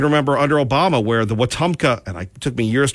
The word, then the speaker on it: Wetumpka: I can remember under Obama where the Wetumpka, and it took me years to pronounce this correctly, the Wetumpka Tea Party, they were in fact targeted.